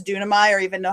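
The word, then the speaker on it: δύναμαι: word that is pronounced dunamai, and it means power. And if you don't have to remember that it's dunamai or even know how to spell it, just remember it as Duracell.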